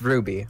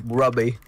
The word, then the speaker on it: RWBY: Oh, it's pronounced Ruby. Okay, I still want to call it Rubby. It's Rubby. Wait, it's actually pronounced Ruby. I was always just spelling the 4 letters. Oh, RWBY? Oh, wow. At least it's better than calling it Rwubby.